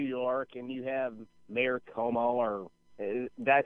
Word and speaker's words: Cuomo: You're in New York and you have Mayor Cuomo, or did I say his name right? Andrew Cuomo, yeah.